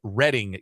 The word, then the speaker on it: Reading: the good people of Reading Kansas I thought in my head that it can't be the British pronunciation no it very much is and I apologize to